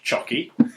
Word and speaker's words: Csoky: It's written CSOKY. And on the profile, it does say, pronounced Chocky.